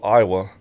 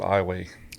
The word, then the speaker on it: Iowa: It's spelled just like the state of Iowa, but we pronounce it Iowa.